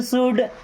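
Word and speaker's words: should: यू शुड help others, you means होता है आप या आपको। शुड, शुड मीन्स करना चाहिए। देखिए यहाँ भी एल साइलेंट है ना, क्या पढ़ते हैं, शुड मीन्स करना चाहिए।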